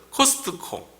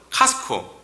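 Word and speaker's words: Costco: 이번 주에도 코스트코, 한국말로는 코스트코, 영어 발음은 카스코, 뒤에 묵음이라서 이거 뭐 미국 사람들이 그거 되게 거스린다고 얘기하더라고요.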